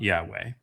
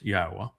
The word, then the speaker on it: Yahweh: And it's not Yahweh, it's Yahwa. Each of those letters is a is a vowel.